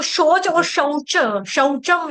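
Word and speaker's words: शौचम्: सुनो मेरी बात सुनो जब आप शोचम बोलोगे ना शोज एक मात्रा दोगे ना तो उसका मतलब हो जाएगा टॉयलेट सुसु करना शोच कहते है ना वो शोच के लिए गया सुसु पार्टी बाथरूम में गया शोज करना जब शचम आएगा तो उसका मतलब क्या हो गया पवित्रता सौम हां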